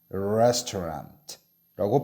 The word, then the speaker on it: restaurant: restaurant라고 발음해야 되지 레스토랑이라고 하면 안 돼요.